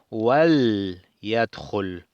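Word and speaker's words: وَلْيَدْخُلْ: Entonces decimos wal y el lam queda con sukun y no pronunciamos con la i, como si estuviera al principio de una oración que decimos liyadkhul. En cambio aquí decimos wal yadkhul con el waw y que entre, algo así, ¿verdad?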